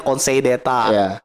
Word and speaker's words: Conseil d'État: Conseil d'État tuh Council d'État itu tulisannya kan. Conseil d'État. Council d'État tulisannya. Bacanya Conseil d'État.